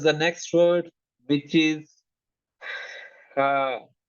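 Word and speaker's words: ح: Ha has to be pronounced from the middle of the throat. Here, it is air. So visualize this part of your throat and start saying with me ha. One thing should be clear that this is the voice of the air. The voice of air should be very clear.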